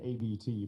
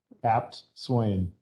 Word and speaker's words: Apt Swain: I said ABT, but I didn't know. Yeah, how to that's say it. right. Apt Swain.